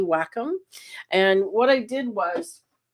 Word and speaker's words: Wacom: of the pros use you may have heard it pronounced wake it's actually Wacom and what I did